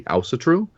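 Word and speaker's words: Ásatrú: In Iceland, they say Ausatru.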